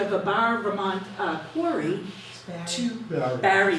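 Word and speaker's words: Barre: And he moved to Bar, Vermont, and that is a picture of a Bar, Vermont quarry. Barry. Thank you. Barry, now I know how to say it correctly, Barry, Vermont, to labor organize.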